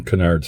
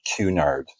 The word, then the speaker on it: Cunard: wondered why in Halifax we pronounce the street Canard Street not Cunard but he was famous